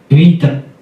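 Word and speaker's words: βήτα: Next. Bait. Veta. Veta. Pronuncia como no Koiné. No erasmiano, Bait. Bait. moderno, Vita. Vita.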